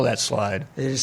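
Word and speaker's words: Slyde: theyve come up with and how do you spell that slide it is spelled s l yde all right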